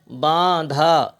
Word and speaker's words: باندھا: الف زبر دھا، باندھا۔ ہے کو الگ نہیں پڑھیں گے، اگرچہ الگ لکھا ہوا ہے، ہے الف زبر ہا نہیں بولا جائے گا، دھے کے ساتھ بولا